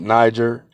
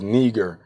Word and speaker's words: neger: look that word up it's not Niger the ey is a long e it is neger meaning black Moore a